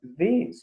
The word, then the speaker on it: these: la primera sílaba y el sonido se alarga un poco más aunque pareciera que fuera el mismo pis esa es la gran diferencia al singular porque no sólo se pronuncia así poco más en seco bis bis y el plural y se alarga su pronunciación entonces en los ejemplos